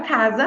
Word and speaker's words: casa: sapo muito bem mas já na palavra casa nós temos um s ali e esse S não é pronunciado com som de e sim com som de z casa muito bem então o